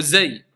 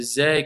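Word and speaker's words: ز: Bout de la langue avec ce qui est au-dessus des incisives inférieures. Donc, vous voyez, la langue, elle va se mettre au niveau des incisives inférieures. Et pas z, et pas th.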